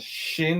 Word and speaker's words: Shin: you write the letter if there's a dot on the top right we pronounce that shin this is s h